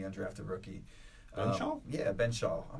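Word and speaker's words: Benzschawel: Yeah, Ben Shaw. It's not that hard, Ben Shaw.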